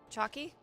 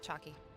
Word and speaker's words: Chockie: one you just renamed chalky yeah how do i spell it yeah c-h-o-c-k-i-e why i'm putting it in title oh chalky chucky chucky it's like chucky but chalky whatever okay i am